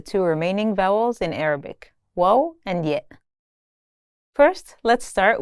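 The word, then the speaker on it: و: Wo and yet. First, let's start with wo. This letter sounds like the English U in the word tune. It should be pretty easy to pronounce.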